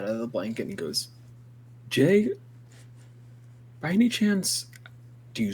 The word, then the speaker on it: Jei: Kruu like ruffles his head out of the blanket and goes, Jay, by any chance, do you spell your name with just the letter J? No. It's just pronounced with just the letter J.